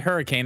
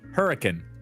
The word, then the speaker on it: Hurricane: try mey it's spelled it's spelled hurricane that's the name of the town but no one calls it hurricane it's called hurricane hurricane like literally like that's that's what they like